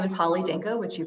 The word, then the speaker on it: Holly Danko: the ice sure thanks Shannon my name is Holly Danko which you pronounced correctly my pronouns are she her and